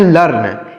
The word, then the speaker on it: learn: ई ए आर एन इसको पढ़ते हैं लर्न एल ई ए से हो जाएगा ल और आर से र और एन से न तो इसको पढ़ते हैं